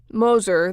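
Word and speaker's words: Gmoser: Moser, that's spelled G-M-O-S-E-R, but the G is silent, was one of two attorneys back in 1978 who tried Bob Young.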